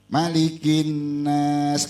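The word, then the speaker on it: مَلِكِ النَّاسِ: di dalam surah Annas kalau surah Annas pendek malikinas kadang-kadang giliran baca kita ketukar tuh giliran malikinnas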